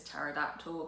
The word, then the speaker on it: pterodactyl: really remember him writing is pterodactyl because of the silent p at the start just to kind of